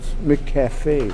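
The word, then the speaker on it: McCafé: I think it's pronounced McCafe. Right, McCafe.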